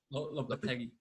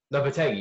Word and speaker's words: Lopetegui: season, but 2 seasons ago, when they had Lopetegui, how do you say his name? Did I say it right? uh, Lop- Lopetegui. Lopetegui, yeah, Lopetegui.